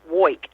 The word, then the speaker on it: Woik: Well, my last name is pronounced W. And how I say that is I wake all day and I wake all night. And that is about correct.